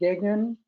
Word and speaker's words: Degnan: And today we have George, and am I pronouncing your name right, George Degnan?